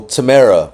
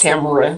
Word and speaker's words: Tamara: So, Tamara, Miss, how you doing? You always say my name wrong. It's Tamara.